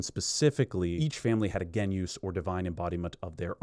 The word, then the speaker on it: genius: And yes, I know it's spelled genius. I'm going to say genus even though in general I push back against these authentic Latin pronunciations because at the end of the day uh no one's calling him Kik Ra.